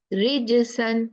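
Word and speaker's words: رِجْسًا: It's not j, it's j. It has strong quality in it. Rijisan, the correct way is rijisan, tujza, ijtama'u.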